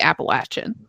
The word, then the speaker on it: Appalachian: I looked it up and it said that it's truly supposed to be Appalachian.